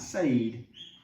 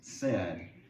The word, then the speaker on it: said: of say is said it's not sayed it it looks like maybe it looks like sayed or side but it's actually pronounced eh said so say said say